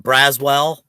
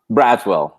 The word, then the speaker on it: Braswell: So, and how do you pronounce? Is it Braswell? Braswell, yeah.